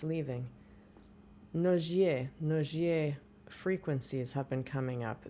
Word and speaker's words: Nogier: N O G I E R No. She's French. You pronounce it No.